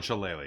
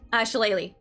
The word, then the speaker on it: shillelagh: Shillelagh. It's like it's spelled weird. It's a druid It's cantrip. spelled like Irish. Yeah. Yeah. 40, 20. Okay. Multi-attack. Shillelagh, will it come up?